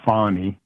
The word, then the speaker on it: Fani: Fanny Willis um uh she pronounces it Fon and so does her